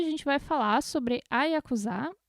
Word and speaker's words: Yakuza: Não é Yakuza, como todo mundo pensa.